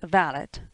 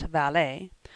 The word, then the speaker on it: valet: extremely pretty but also extremely extravagant the valit pronounced valid not valet is what beau brummel called a gentleman's gentleman